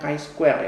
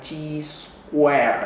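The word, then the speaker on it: chi-square: ada tulisannya kayak Square enggak ada bacanya Kai Square ya bukan cheese Square ya guys Square bacanya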